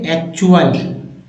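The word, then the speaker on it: actual: जैसे सफिक्स आते हैं तो टी का उच्चारण च होगा क्या होगा च यहां पर च उच्चारण होगा च कैसे देखिए जैसे एक्चुअल एक् चुअल फैक्चर म्यूचुअल देखिए म्यूचुअल ये देखिए चुअल आ गया अब देखिए चर वाला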